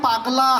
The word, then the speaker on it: পাগলা: মাস্টারমশাই যতই বলেন ওরে ওটা পাগলা নয় রে, ফাগলা নয়, ওটা বল পাগলা হাওয়ায়।